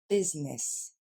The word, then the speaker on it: business: Rares sont ceux qui disent business quand même, mais vous dites quand même business. Ce ne sera pas des i en anglais, mais des e. Donc, business.